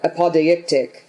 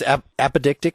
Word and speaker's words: apodeictic: And he uses this beautiful word, apodeictic, throughout, which I think is just... Yeah. Isn't it just apodictic? Isn't that the pronunciation? I think it's apodictic, meaning demonstrable.